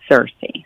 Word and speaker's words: Sirsy: so funny how people pronounce it now they pronounce it in all kinds of crazy ways but it is cersei it is seriously yeah oh great i love